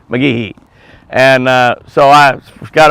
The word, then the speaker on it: McGehee: which was Clay she has clay clay since McGee McGee you got to kind of you don't put a Big E on the key but you got to say McGee and uh so I got over there yesterday